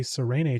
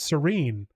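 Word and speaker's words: Sarene: was a weekly update from Brandon Sanderson and he's pronounced it serene I called it website his website says Serene so we've been saying it wrong this whole time not according to the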